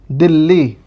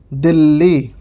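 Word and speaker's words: ਦਿੱਲੀ: तो हमने लिखा, अगर हम इसको ना लगाएं तो ये हो गया दिल्ली। लेकिन हम जब हम इसको लगा देते हैं, अद्धक को हम जब लगा देते हैं तो यह बन गया दिल्ली। इसका उच्चारण इस प्रकार से करेंगे दिल्ली।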